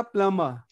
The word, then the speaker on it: plumber: जैसे मैंने बोला था प्लम्बर, तो प्लम्बर में मैंने क्या बोला, आपको बी साइलेंट कर लेना है ना.